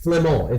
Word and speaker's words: Flamand: They're in freaking Flemish, Flamand. That's how you say it in French.